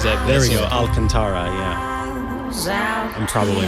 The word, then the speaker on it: Alcantara: That's- Alcantara, yeah. I'm probably mispronouncing that.